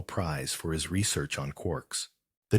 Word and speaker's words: quark: the letter K but it is usually pronounced to rhyme with Lark several varieties of quirks